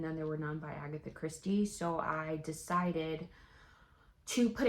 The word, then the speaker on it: Agatha Christie: there were nods to Agatha Christies and then there were none did I say her name right it's supposed to be Agatha Christie I don't know what